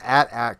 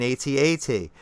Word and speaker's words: AT-AT: they member on TV they called it an at-at they didn't call it an 8080 and at the same